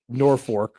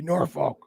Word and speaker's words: Norfolk: You haven't been like you haven't pulled them aside and said, "Listen, you pronounce No. Norfork wrong. It should be Norfolk.